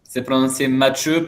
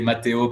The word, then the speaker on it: Matthew: Matth Matthu, pero toda la gente acá dice Mateo porque es la traducción de más fácil funciona.